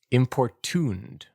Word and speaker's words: importuned: Uh, importuned. Three syllables with the primary stress on the final syllable.